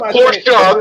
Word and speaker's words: Porsche: The word is Porsche. The E you pronounce.